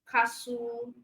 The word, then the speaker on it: castle: listen, castle, also. All right. So for T in listen, you do not pronounce it. You don't say listen. The word is listen. So listen. Castle, T is silent.